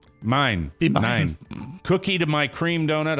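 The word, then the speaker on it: Mein: dipped in red icing that's a german donut and it's spelled m-e-i-n mine cookie to my cream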